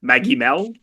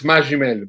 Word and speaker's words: Magimel: Maggiml. No, it's Majim, but it's okay.